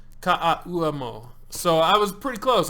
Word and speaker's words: Ka'auamo: my name is pronounced like Blaze, but with the S. And the last name is phonetics. Ka'auamo. Ka'auamo.